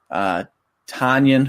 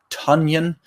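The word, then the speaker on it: Tonyan: Tanyan, who I believe we've been mispronouncing, is Tunyon.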